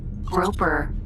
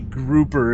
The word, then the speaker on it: Grouper: Groper mineral. It's not a groper, it's a grouper, is how you pronounce this ship's name, folks. It's named after a fish.